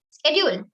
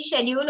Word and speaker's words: schedule: Schedule, like it's acceptable both ways. It can be schedule also and it's schedule also. Both are correct.